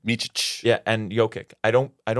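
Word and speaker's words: Micić: How do you pronounce his name? Micic.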